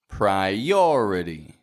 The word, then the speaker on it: priority: ending of that word that t isn't getting a regular TT sound is it it it's getting a flap te ity ity real quick and quiet priority so let's go through